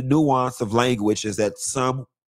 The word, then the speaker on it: Tso: But some of the nuance of language is that some letters are silent. It is salmon. It is salmon. Okay? And it's not General Tso chicken. It's General So chicken.